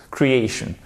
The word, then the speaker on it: creation: Creation. OK. Now, un petit exercice, chers amis. À vous de prononcer.